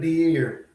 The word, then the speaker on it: De'Air: De'Air Hill. Guess that's how you say his name. Kind of like Pierre, but De'Air.